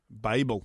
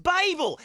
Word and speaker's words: Babel: a B e L what does that spell Babel Babel as in the Tower of Babel yes as in lots of languages the Babel Fish in Hitchhiker's God